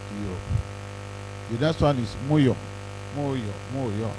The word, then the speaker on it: Mu: The next one is Moyo, MU, pronounced Moyo.